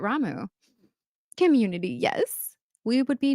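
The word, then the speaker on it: Ramuh: a lot of people pronounce ramu you thought it was pronounced Rama I thought it was Rama too but then hearing it in the the game I'm pretty sure they say it ramu Community yes we would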